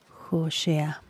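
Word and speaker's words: הושע: Qué significa josea se escribe así se pronuncia josea y esta palabra en hebreo significa salvación y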